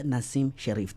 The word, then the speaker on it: Nassim Sherif: Nassim Sherif.